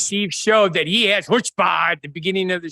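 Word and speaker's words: chutzpah: yes not just AG there's a c in front so it's not ch ch though we say here it's silent like like ponix the positive version version of hpah which is more likely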